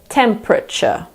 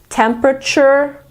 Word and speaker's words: temperature: the thermometer is temperature in British English we pretend that the second e isn't there we say temperature in American English you have a choice some Americans say temperature and some say temperature in any case in American English you pronounce the r at the end of the word that is it ladies